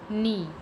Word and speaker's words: knee: When K and come together, it make a sound of N. It means K is silent. Let's see some example. Knob, knee, knife, knot, night, neat, knock, knuckle.